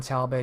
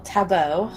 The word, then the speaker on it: Talbot: the loss of John Talbot is is definitely regrettable the loss of accent yes and I have returned with news to my higher-ups that talbo well Tabo as it's technically supposed to be pronounced sorry I took photography